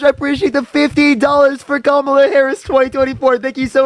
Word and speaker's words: Kamala: I appreciate the $50 for Kamala Harris 2024.